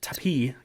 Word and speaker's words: Tapie: But the French Marquis CEO, Laurent Tapie, cannot make that up. That's how it's pronounced.